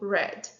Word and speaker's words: read: pronunciados da mesma maneira com exceção do verbo read read no passado se escreve da mesma maneira Mas é falado Red read é presente Red passado então o verbo Bad